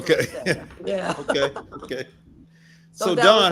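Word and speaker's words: Nseya: In Saya Salon and Spa. Asaya? N is N-S-E-Y-A. The N is silent, but most clients still kept saying Insaya, but it's actually Saya.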